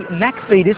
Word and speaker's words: McFetus: My name is McFetus, with the Scottish pronunciation, Mac, because that's my background.